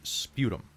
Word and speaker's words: sputum: word uh so uh it's sputum because you're spting it that's right okay uh